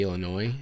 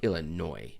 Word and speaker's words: Illinois: Because Illinois, I think it's Illinois, because I don't think Native Americans, silent for sure.